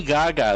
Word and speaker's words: Gaga: So, Lady Gaga is reportedly in early talks to play Harley Quinn in the Joker sequel. I'd be okay with that. Thoughts? Also pronounce her name properly. It's Gaga. Gaga. Gaga.